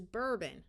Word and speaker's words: bourbon: So this is bourbon, a type of alcohol.